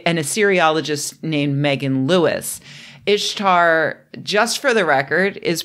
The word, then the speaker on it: Ishtar: been corrected by an aceriologist named Megan Lewis Ishtar just for the record is pronounced Ishtar not Easter she was the goddess of warfare